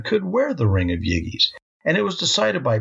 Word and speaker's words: Gyges: Herodotus tells of the legend of a man named Gyges of Lydia. That's g y g e s and it's pronounced Gyges.